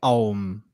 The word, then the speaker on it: Aum: chant the Aum, right, there's three parts of the Aum. There's the A, U, M. But when you actually chant it, there's 5 syllables. There's 5 twists of sound if you really listen to it when you chant it. And if you go, you'll see there's 5 different tonal shifts within that chant, which is fascinating.